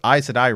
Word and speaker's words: Aes Sedai: You know what Aes Sedai rhymes with? Another failed organization from another fandom, Jedi.